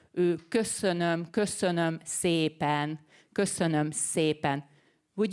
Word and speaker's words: köszönöm: The first one is köszönöm szépen, which is thank you very much. Maybe you have heard that. Let me say that again. Köszönöm szépen. very rounded lips. Köszönöm, köszönöm szépen, köszönöm szépen.